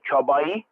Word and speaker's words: Csabai: And yeah, there's something called a chabai, and they have spicy and non-spicy. You may want to try that until they're going to have that pig salami. It's a CSABAI. That's how they spell it.